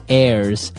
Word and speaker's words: heirs: Now, if you notice, the H is silent there. So his heirs.